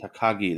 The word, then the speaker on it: Takagi: Then we had LIJ, which is Shingo I can't pronounce it properly. Shingo Takagi. Takagi, there we go.